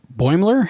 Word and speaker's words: Boimler: She's really nice to Boimler. How do you pronounce his name?